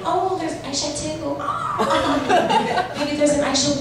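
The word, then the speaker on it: Aishatu: Oh, there's Aisha too. Oh. Maybe there's an Aisha 1 hiding under the table. But the issue is that the correct pronunciation of my full first name is actually Aishat.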